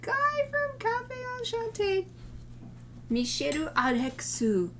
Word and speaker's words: Misyr Rex: from cafe au chateau mishiro arexu and the the way it's written in english doesn't match that pronunciation but it's m-i-s-y-r rex but that's me i